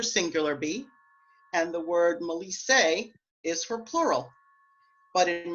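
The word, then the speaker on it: melissae: You'll notice that I say melisse to talk about the bee nymphs in plural.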